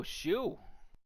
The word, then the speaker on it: Hsu: Hasu. Maybe the H is silent. Okay. Let's see here. Microsoft, Salesforce. Oh, shoe.